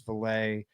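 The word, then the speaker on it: Vele: Now in the room, for those that don't know, you've got Sutton, Mims, Valet, and it is Valet. I saw a comment angry about that. That's the right pronunciation.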